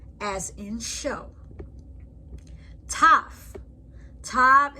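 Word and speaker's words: תו: Tav is pronounced as T, as in tango.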